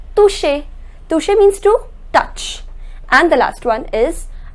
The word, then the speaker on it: toucher: Remember I told you the pronunciation of CH is sh. So it becomes toucher.